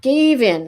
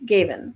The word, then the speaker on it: Gaven: my thing uh ah gave in is how you pronounce his name my pardons gaven okay my apologies so